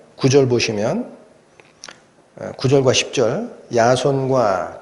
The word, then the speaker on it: 야손: 거야 이런 약조 하에 야 손이 풀려 와 따라 야손 일하는 사람 이름이 좀 우리말 표현이 좀 이상하죠 야손 영어로 발음 발음하면 그 제이슨 입니다 제이슨 야손 저희 슨 회의라는